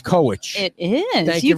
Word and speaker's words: Kowitch: I think it's Kowitch.